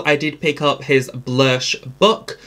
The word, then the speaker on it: Blursh: Also from Made by Mitchell, I did pick up his Blursh book. He does say Blursh, and that's how this spelt and sold.